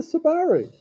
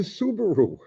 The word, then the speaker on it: Subaru: what a wrx's yeah how do you say that Subaru Subaru saaru that's hot dog isn't it it's a subari no it's a Subaru remember we won the war we get to say how stuff is pronounced yeah not the Japanese